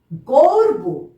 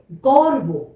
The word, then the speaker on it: গর্ব: যেই বর্ণের মাথার উপরে, যেই বর্ণের মাথার উপরে রেফ বসবে, ঠিক তার আগে আমরা র এই উচ্চারণটা করব।